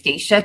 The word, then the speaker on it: Stacia: and what you do sure my name is theshia yeah there is actually a section in